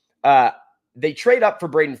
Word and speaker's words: Fiske: Yes, the E is Braden silent. Fiske.